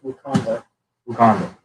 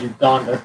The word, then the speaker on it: Wakanda: Wakanda. Yeah. I thought you said Uganda.